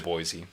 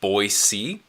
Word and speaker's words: Boise: I would if I lived in Boise, but that's a 7-hour drive, so I've never even been to Boise.